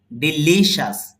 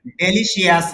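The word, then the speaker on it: delicious: বাহির করতে পারবেন তাহলে ডেলিশিয়াস না জি বলেন হ্যা হ্যা আচ্ছা দেখেন তাহলে তাহলে উচ্চারণটা হবে ডিলিশাস বলেন ডিলিশাস লর মধ্যে স্ট্রেস আছে লরমা স্ট্রেস আছে মানে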